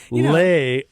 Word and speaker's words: Laodicea: pronunciation from Google. According to Google. Laodicea.